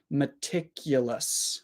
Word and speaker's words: meticulous: word okay there so we don't say mticulos m so it's I uh I three schah sounds schah short I schw meticulous meticulous let's back chain